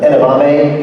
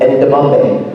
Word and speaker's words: edamame: She's funny because she mispronounces edamame. Edamame. Yeah. She pronounces it endamame.